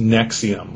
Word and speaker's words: NXIVM: group called Nexium nxivm pronounced Nexium like the uh stomach medication uh but anyway it